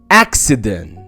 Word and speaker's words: accident: لا بص كده، لما يجي لك 2 سي والسي التانية جاي بعدها اي او اي او واي بنطق الاولى ك والتانية سا. زي الكلمات دي، اول كلمة معانا accident accept accent vaccinate vaccination.